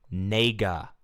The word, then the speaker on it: Nega: Nega E G A. Nega. Not the N word.